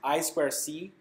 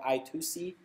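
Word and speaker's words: I²C: i square c pronounced i square c um sometimes called i2c but less often it's really most of time i square c it's a two wire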